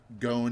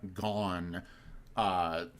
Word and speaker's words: Gon: I say Gon instead of Gon for the main character in Hunter x Hunter. But that's just because it's like I actually do think Gon is easier to say or to like emphasize than Gone. Gone. You know, God, so that sounds so American. Gone. Yeah. I think when I first read Hunter x Hunter, I said gone.